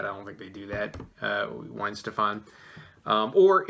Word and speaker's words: Weihenstephaner: for this beer in September, I believe I pronounced it Weihenstephaner. No, it's Weihenstephaner.